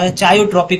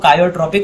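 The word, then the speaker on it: chaotropic: क्योंकि भाई ये चायो चायोट्रॉपिक होता है। चायोट्रॉपिक मतलब होता है इसको कायो भी कहते हैं। ये इसको करेक्ट प्रोनाउंसिएशन होता है वो कायोट्रॉपिक होता है।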